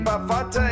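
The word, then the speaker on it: Bafatá: the same as me baata is how you say it in the language Portuguese my name is beo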